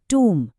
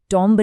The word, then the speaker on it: tomb: TOMB है टूम, टॉम्ब नहीं।